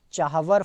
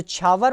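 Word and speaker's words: Chabahar: Next important question आपका बनता है, what is the location of चाहवर fort? ठीक है, जो छावर पोर्ट जिसको भी बोल दिया जाता है या चाहवर भी प्रोनाउंस किया जाता है, कई बार छावर भी डायरेक्ट बोल दिया जाता है।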